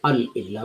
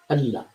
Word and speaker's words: Allah: We pronounce Allah as if Al and Illah, we pronounce Allah. So we don't say Al Illah, we say Allah.